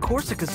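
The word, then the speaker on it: Korsica: no I don't think corsica's like the other bosses Corsica that's how you say it she's less insane she's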